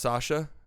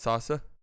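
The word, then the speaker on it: Saša: It's pronounced Sasha, not Sasa.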